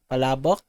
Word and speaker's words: Palabok: Yeah, it's actually pronounced Palabok Fiesta here in our country, but I feel like this looks delicious.